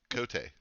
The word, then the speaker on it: Cote: Cote. Oh wow, you said it right. I did? Okay, good. You did, yeah. All right. I know. Yeah, it's a French name.